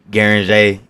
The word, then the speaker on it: Gueringer: your name the artist formerly known as jg guaranjay 13. guaranty all right you got it now man how